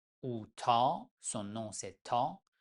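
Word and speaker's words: ط: La lettre 19, T ou Ta, son nom c'est Ta, mais on prononce tout simplement comme T en français.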